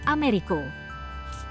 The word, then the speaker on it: Amerigo: Dalam bahasa Spanyol, Amerigo memang diucapkan dengan bunyi Americo.